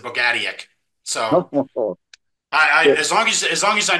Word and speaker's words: Bogatiuk: from what I've heard, I found a Ukrainian gal that I was at a restaurant I went to, and I asked her, I was like, wait, you're Ukrainian, how would you say this? And she says, Bogatiuk. So I was like, okay. And the funny thing is, my dad and my brother, both pronounce it differently. My dad was Bogatuk, which is his Americanized version, but his brother pronounces it Bogatiuk.